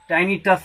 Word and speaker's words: टाइनिटस: और जो फाइनल है टिनिटस, टाइनिटस बोलते हैं, correct pronunciation, A ringing sound, A ringing sound in the year.